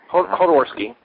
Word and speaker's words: Jodorowsky: Now, I never knew how to pronounce the director's name. Alejandro Jodorowsky or Hodorowski? Hodorowski.